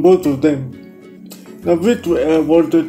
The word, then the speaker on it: WALTR2: It's pronounced Walter, but it's spelled WALTR2.